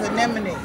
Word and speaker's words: anemone: The correct pronunciation is anemone.